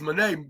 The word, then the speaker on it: Moné: pronouncing her last name, which we all know don't have a Y in it.